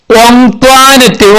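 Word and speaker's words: Antoinette: ബട്ട് എന്നാൽ കുഞ്ഞിച്ചിരുത learned, കുഞ്ഞിച്ചിരുത learned പഠിച്ചു, from ഓങ്ത്വാനറ്റ്, ഓങ്ത്വാനറ്റിൽ നിന്നും പഠിച്ചു, ദാറ്റ് അത്. ഏതാ പഠിച്ചത്? ദ നെയിം, ആ പേര്, ought to be pronounced, ഉച്ചരിക്കേണ്ടത്, ഓങ്ത്വാനറ്റ്, ഓങ്ത്വാനറ്റ് എന്നാണെന്ന്.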